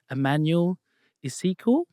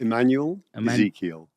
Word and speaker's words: Immanuel Ezekiel: and I would love to share with you Emanuel ISO did I pronounce that right close enough for me go on to tell us exactly how it's pronounced Emanuel Ezekiel Ezekiel okay now because it's really important to